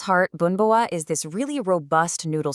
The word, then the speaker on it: Bún bò: What exactly is boonbore? And yeah, it's pronounced boonba and what makes it so, so special. At its heart, boonboa is this really robust noodle soup.